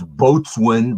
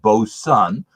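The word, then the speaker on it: Boatswain: will show it again it looks like it's boatswing but it's pronounced both sun and it's a chocolate stout at 5.4 percent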